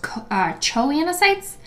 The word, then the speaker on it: choanocytes: The outer layer of the sponge has flattened cells and an inner layer of cells called choanocytes. Sometimes you hear it pronounced choanocytes.